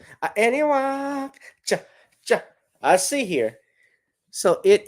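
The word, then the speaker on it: Anahuac: place is okay so this is how you pronounce it anok any walk any walk I see here so it is the alligator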